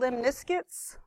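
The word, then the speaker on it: lemniscates: Then these are called limniscutes. Like Limp Biscuit, limniscutes, what it sounds like, it's how the way I remember it, or else I say it wrong.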